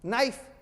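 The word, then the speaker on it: knife: ये नाट गांठ, नाइफ, इन्हीं का नाइफ जी नहीं।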